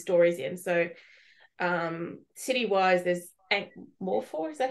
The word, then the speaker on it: Ankh-Morpork: So city-wise, there's Ankh-Morpork, is that how you say it? Ankh-Morpork, yeah.